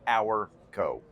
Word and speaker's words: OurCo: So we had this internal fight, and it all turned out well after we realized it's all in the pronunciation. So OurCo.